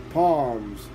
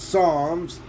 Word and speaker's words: Psalms: at your right hand palms no it's Psalms chapter 16 verse 11 the PE is silent praise leads you into